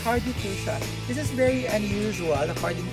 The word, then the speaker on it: fuchsia: So, did I pronounce it right, Mike? Yeah, it's hardy fuchsia.